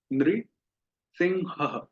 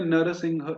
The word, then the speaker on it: नृसिंह: फिर इतो नृसिंह, इसका उच्चारण होगा नृसिंह। नृ, बोलिए नृ सिंह। तो देखिए, एक तो हम उच्चारण करते हैं नरसिंह इस प्रकार से, है ना, नरसिंह। और एक उच्चारण हुआ इस तरह से, नृसिंह। तो दोनों ही शब्द हैं, जहां पर नरसिंह लिखा है हम वहां वैसा उच्चारण करेंगे, और जहां नृसिंह लिखा